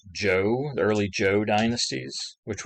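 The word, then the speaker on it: Zhou: yang lu yang the joe the shin she uh some of these different uh families these different societies so you see here this is the shang early this is pronounced joe the early joe dynasties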